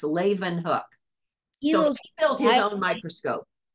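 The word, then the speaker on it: Leeuwenhoek: at that last name it's pronounced Leen hook he built his own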